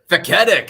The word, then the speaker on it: Feketik: Feketik? Feketik.